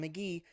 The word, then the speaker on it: Mk.Gee: an album on Spotify and apple music um pronounced McGee was his I guess first uh full release